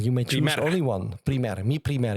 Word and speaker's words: Mi Primer: Mi Primer. Yeah, that's the Spanish pronunciation.